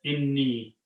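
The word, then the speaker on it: إِنِّي: Inna, and Ya is pronounced as inni.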